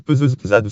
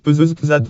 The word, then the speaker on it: Pezeshkzad: Iraj Peuzezad en persan. Iraj Peuzezad prononcé pour les francophones Iraj Peuzezad ou Zad comme le A anglais de Garden, né en 1928 à